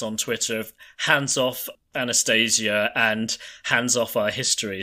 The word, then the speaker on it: Anastasia: Probably Anastasia Once Upon a Time, although I guess the Russian pronunciation should be more like Anastasia.